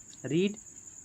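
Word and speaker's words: read: रीड यानी पढ़ना। पढ़ने की अंग्रेजी क्या है? रीड रीड रेड रेड होता है। रेड स्पेलिंग वही रहेगी। प्रोनंसिएशन चेंज हो जाता है।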